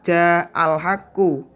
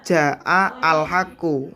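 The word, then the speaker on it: جاء الحق: Hamzah pada lafadz al haqqu itu tetap harus ditulis, walaupun ketika diucapkan itu hamzahnya hilang, nggak ada, nggak kebaca. Contohnya ja'al haqqu, bacanya bukan ja'a al haqqu.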